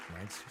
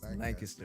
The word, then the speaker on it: Lancaster: Lancaster City. Lancaster City. Okay. Hell yeah. How you say it? Lancaster. Lancaster. Lancaster.